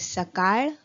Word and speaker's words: सकाळ: Morning is सकाळ. The letter is a bit difficult for the non-Maharashtrians to pronounce. So it is called सकाळ.